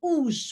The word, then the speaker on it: уж: А мне, but for me, уж, by the way, уж is spelled funny. It needs to be, in Latin, it should be U-Z-H, not H-Z. Zh, it indicates the zh sound.